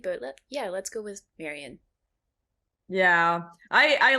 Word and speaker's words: Marion: much to me but yeah let's go with Marion yeah I I like to I don't know